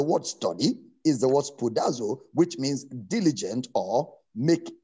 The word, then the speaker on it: spoudazo: It's spelled as S-P-O-U-D-A-Z-O, spoudazo.